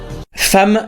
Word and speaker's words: femme: Femme, ça s'écrit avec un e et ça se prononce avec un a.